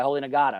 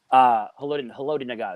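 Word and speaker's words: Haloti Ngata: The broken nose by Holy Nagata, or whatever you say his name. Haloti Nagata, there you go.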